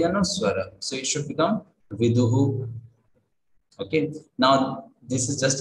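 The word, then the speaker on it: विदुः: So it should become viduhu.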